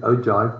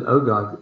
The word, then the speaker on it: ogive: I always said ogive, but I only learned recently that my pronunciation was wrong. It's an ogive.